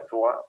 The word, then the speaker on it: Troyes: Ya en francés se pronuncia Troyes, pero pues es Troyes, es Troya, ¿no?